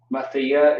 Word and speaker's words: Mathiya: Mathiya is how you would pronounce that.